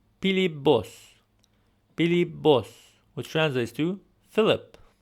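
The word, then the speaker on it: Փիլիպոս: So here we have the name Pilibos, which translates to Philip. Now notice here how in the name Philip, it ends with a P sound, but in the Western Armenian pronunciation we use a B sound.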